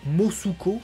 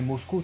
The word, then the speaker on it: Mosco: Il prononce Mosuko, son nom. Bon, ouais, bon. C'est un peu c'est un peu dommage, quoi, que à l'écoute, c'est Mosco, tu vois, il fait toutes ses vannes sur Mosco, justement.